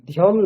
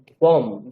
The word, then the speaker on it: ধ্বম: সংগচ্ছদ্দম সংবদধ্বম হ্যাঁ, ধ্যম নয়, ধ্বম। ধয় বয় আছে। হ্যাঁ, তাহলে কি করবেন? ধ্বম, সংবদধ্বম এরকম উচ্চারণ করবেন।